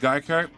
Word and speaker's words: Geico: Uh, it's pronounced Geico. The mascot is an English-speaking gecko. Okay. Uh, Geico is how it's pronounced.